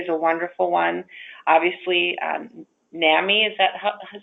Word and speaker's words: NAMI: Obviously, NAMI, is that how you pronounce that? NAMI? NAMI.